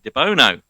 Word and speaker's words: Debono: So I'm very pleased to welcome Miss Debono.